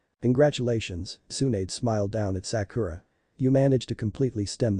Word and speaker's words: Sakura: Sakura and aside gently listen sakuda my name is Sakura she corrected now out of habit